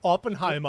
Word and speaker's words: Oppenheimer: do they say Oppenheimer did I say open not it's well you said it's somewhere in between no you have to say it Oppenheimer yeah that's the way you say it right there I'm going to watch